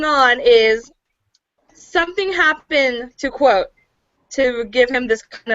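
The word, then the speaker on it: Kvothe: it in the book to say it like it had a q instead of a k quote okay quote okay quote so I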